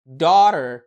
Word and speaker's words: daughter: انت عارف ان في قاعدة بتقولك التي لو وقعت ما بين صوتين متحركين بتتحول لصوت اللايت دي، وعشان كده الكلمات دي بتنطق water daughter.